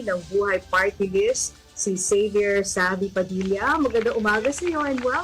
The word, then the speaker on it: Xavy: So, ginawang spelling tapos ibang pronunciation. Okay, thank you. It's very unique kasi normally pag XA, ang pinasanay natin is Xavy.